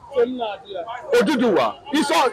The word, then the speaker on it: Oduduwa: So as the Benin Empire grows, one of the sons of the Benins, who was, that is the actual name, pronunciation of that name, Oduduwa, is migrated, ran away from Benin to Ife.